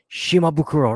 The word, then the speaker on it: Shimabukuro: name perfectly but then they get my first name wrong okay it's Shimabukuro right shimabukuro be like yes yes you got